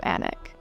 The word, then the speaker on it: Alnwick: And one you're very likely mispronouncing. The English love a silent consonant or two in this case.